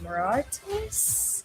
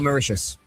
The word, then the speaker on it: Mauritius: They three-w Kenya and then they thrioed uh I don't know how to say this properly, but Moratus. Oh, Maitius.